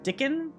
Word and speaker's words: Dickon: are they it's been they pronounce it like Dickens without the s dickin master dickin that sounds